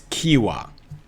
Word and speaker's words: Qiewa: to me on Instagram with the pronunciation it's Kiwa I could play it